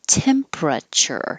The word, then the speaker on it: temperature: Absolute zero is the temperature. You don't have to say temperature. You can make it shorter and 3 syllables.